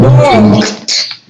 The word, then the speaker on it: walked: Walked. Remember walked with T at the end.